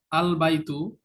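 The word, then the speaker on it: البيت: লাস্টে ইংলিশে দেখো এনটা আর উচ্চারণ হবে না, তখন উচ্চারণ হবে আল বাইতু, এন আর উচ্চারণ হচ্ছে না।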